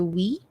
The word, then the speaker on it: Uy: In the province, we prefer we than uy. Kasi, especially I really don't like uy. Masyado ako nabully ng uy. Uy! Ayan. So, diba? Careful. Ask first kung uy o we ang gusto niyang pronunciation.